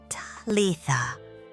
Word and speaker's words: Talitha: Talitha, the second syllable, should vibrate in your throat, like a hum.